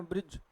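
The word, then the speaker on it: bridge: और क्या लिखा है ब्रिज तो देखि एंडिंग का जो आर होता है एंडिंग का जो ई होता है व उच्चारित नहीं होता है ब्रज और फिर क्या लिखा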